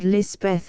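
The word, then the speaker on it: Lispeth: baptized the cotg chaplain christened her Elizabeth and lisabeth is the hill or pahari pronunciation later Kera came into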